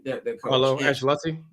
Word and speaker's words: Ancelotti: They're going to get rid of, how do you pronounce his last name? Their coach. Carlo Ancelotti? Ancelotti.